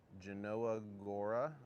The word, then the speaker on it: Jelenia Góra: Genanoa Gora, I believe is how you say it.